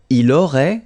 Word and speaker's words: il aurait: Il aurait, same thing here, final T is not pronounced, elle aurait, okay?